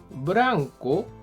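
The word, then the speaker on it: ブランコ: al color de algo en japonés blanco se pronuncia como branco y significa columpio Sí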